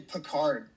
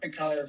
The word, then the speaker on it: Picahd: It's actually Picahd or Picahd for the French speakers.